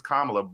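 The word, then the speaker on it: Kamala: is the fact is her name is kamla but if you call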